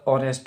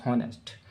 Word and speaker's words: honest: ये तो जनरली मालूम है आपको, इसमें एच साइलेंट होता है और ओ से प्रोनाउंसिएशन करते हैं। इसका प्रोनाउंसिएशन जो होता है वो ऑनेस्ट होता है, ना कि हॉनेस्ट।